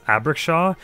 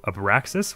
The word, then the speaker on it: Abraxas: you or abeksha okay it's spelled a b r a x a s and i don't know why my mind always looks at it and says abriksha as opposed to a paraxis which i guess makes